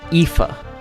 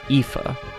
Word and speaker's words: Aoife: Believe it or not, this is typically pronounced Aoife. That AOI makes an E sound here. Aoife.